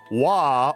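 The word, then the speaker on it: Waaagh: For those of you who don't know, wah or w a a a g h. The g is silent. Uh wah, I believe in their language means just war.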